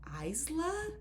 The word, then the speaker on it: Isla: also to learn that her name is meant to be pronounced Isla.